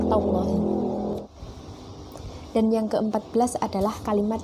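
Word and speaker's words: تالله: Adapun cara membacanya yaitu ba billahi dan wawu adalah wallahi dan tak adalah tallahi.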